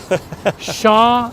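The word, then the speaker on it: Champs: to pronouncing this is you don't pronounce the M the P or the S okay sha El I thought isn't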